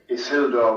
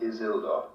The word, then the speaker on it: Isildur: Note that it is Isildur with an S, not Isildur.